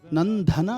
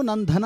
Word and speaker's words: ನಂದನ: ಚೆನ್ನಾಗಿತ್ತು ಒಂದು ಕಡೆ ಇಲ್ಲಿ ಪದ ಉಚ್ಚಾರಣೆ ಮಾಡಬೇಕಾದರೆ ನಂದನ ಅಂದ್ರಿ ದೇವಕಿ ನಂದನ ದೈತ್ಯ ಕುಲಾಹರಣ ಸಂಸಾರಿ ಅಲ್ವಾ ಹೌದು ಸರ್ ಮತ್ತೆ ಎರಡನೇ ಸರಿನು ನನ್ನ ಧನ ಅಂತಾನೆ ಅಂತ ಅಂದ್ರಿ ಅದು ಮಾಡಬಾರದು ಇನ್ನೊಂದು ವಿಷಯ ಏನಂದ್ರೆ ಅದನ್ನ